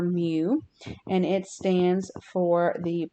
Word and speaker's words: mu: it it might come out something like saying mu which is how you actually pronounce this symbol so this symbol is the greek letter mu and it stands for the population mean the